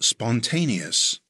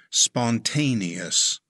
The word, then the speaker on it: spontaneous: It has four syllables. Stress the second syllable. It's pronounced spontaneous.